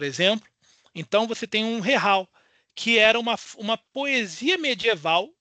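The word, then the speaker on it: zajal: ser uma produção moçárabe, a pronúncia dela é Rehal, já que o Z você tem aquele Z que ele se pronuncia como um H de home, e ele tem aquele J que é pronunciado em espanhol, tipo Juan, por exemplo.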